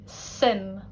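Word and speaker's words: suim: First one, sim, meaning interest. Sim. As you can see, it's really almost like SIM, sim, Sims.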